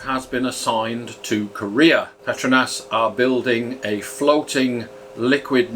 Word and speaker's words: Petronas: yes I did say Petronas not petronus which even Google pronunciation gets wrong so pay attention Bahasa Malaysia is a phonetic language with each letter being assigned a sound which does not change